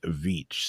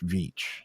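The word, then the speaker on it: Veach: v a c h vich it's like beach with a V vich who vanished Without a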